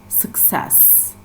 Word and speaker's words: success: dim or Satish and success success so the SIL stressed syllable is the second syllable success then that means for